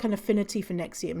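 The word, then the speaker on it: NXIVM: nexium next name is is spelt n x i v m november x-ray indigo victor mike and nexium oh you know what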